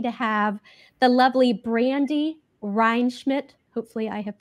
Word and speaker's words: Rheinschmidt: are so lucky to have the lovely Brandy rmid hopefully I have pronounced yes yes you got it gotta got